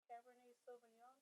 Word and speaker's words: Cabernet Sauvignon: It was something I couldn't pronounce correctly, and I kept calling it something weird. Cabernet Sauvignon. Oh, yes. Because I called it Savage Young or something.